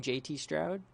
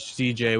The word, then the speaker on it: CJ Stroud: Did I say his name wrong? JT Stroud? JT Stroud? No, you're fine. Or is it CJ Stroud? Oh, it's CJ.